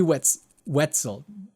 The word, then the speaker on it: Wetzel: I'm Kid Icarus, and this is Jimmy Wetzel. Yeah, that's how you pronounce it, like pretzel.